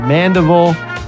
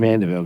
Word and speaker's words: Mandeville: But Mandeville is the right way to say it. Mandeville, good.